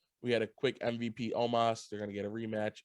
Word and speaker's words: Omos: You hear how he was saying Omis? He was like saying Omis. Omos. I was like, Omos, though.